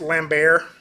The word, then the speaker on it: Lambert: going to see that technically I think it's pronounced lamb bear but I'm from Tennessee so this is your